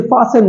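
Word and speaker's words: fasten: ई एन फास्ट एन इसे फान नहीं बोला जाता इसे फसन बोला जाता है फसन फसन तेज तो ये फास्ट नहीं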